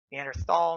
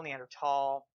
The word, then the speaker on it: Neanderthal: all by the way the pronunciation you can or can't use the th it's up to you and earth all Neanderthal it all has to do with local dialect pronunciation so is this what